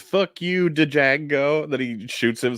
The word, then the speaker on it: Django: I was just gonna say that what he says, "Fuck you, Django," that he shoots him, says the D is silent, hillbilly.